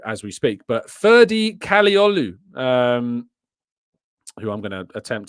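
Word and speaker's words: Kadıoğlu: I will do as we speak but ferie kolu um who I'm gonna attempt to spell live on uh cogu there we go but it's pronounced kolu um supposedly uh has had an offer rejected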